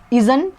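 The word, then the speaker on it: isn't: इज़ नॉट को contraction में short करके इज़न या इज़ंट भी बोलते हैं, लेकिन अभी जो मॉडर्न इंग्लिश है उसमें इज़न बोला जाता है.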